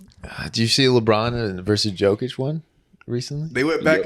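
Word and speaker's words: Jokić: J. It's like a Y. Jokic.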